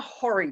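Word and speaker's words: hoary: just from the start tell you how that word is spelled so you can understand why they're called hurry bats that's h o a r y beautiful bat a very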